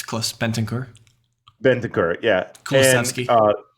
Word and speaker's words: Kulusevski: Kulusevski. Kulusevski. Thanks for pronouncing that one right.